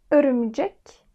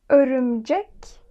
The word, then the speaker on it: örümcek: Buradaki Ö harfimiz İngilizce'de yok ama bu ses var. Mesela nurse. Nurse dediğimizde buradaki harf aynı. Örümcek, nurse. Örümcek, nurse. Gördüğünüz üzere ikisinde de Ö harfini telaffuz ediyoruz.